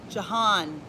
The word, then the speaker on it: Johan: it it's ja pine Jahan got you on nacho horn da Johan Johan Johan Johan like an extended John like JA just kidding